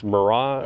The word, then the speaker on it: Mirai: It's Mirai or something like that. Mirai, yeah. Mirai, that's it. Liv always knows how to pronounce it.